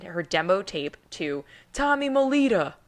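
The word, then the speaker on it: Mottola: demo tape to Tommy Molita. I feel like I have to say it like that. I mean, you can say Molotta, but I'm pretty sure he went by Tommy Molita, the head of Columbia Records at the time.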